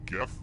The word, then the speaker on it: gif: I stand for in gif and yes I pronounce it with the G sound not the J time to explore